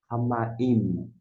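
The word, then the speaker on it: הַמַּיִם: Então, o iode é Y e o hirik é o som de I.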